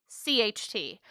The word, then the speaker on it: Sehnsucht: So it's Sehnsucht, which is way more like consonants than any word should have.